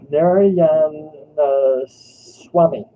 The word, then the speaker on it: Narayanaswamy: I am not pronouncing the last name. Come on, you should try it. It's okay. Oh, Narayanaswamy.